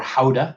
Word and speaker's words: Gouda: I think it's a scorpion pepper Gouda or Howda, I think is the proper way to say that. It's a scorpion pepper Gouda. I'm going to say Gouda.